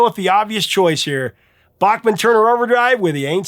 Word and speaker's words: Bachman: And I've talked to Randy about it and he said, "Yeah, of course it's Randy Bachman. Most people say Randy Bachmann. It's fine." Here, I'm going to say it right though.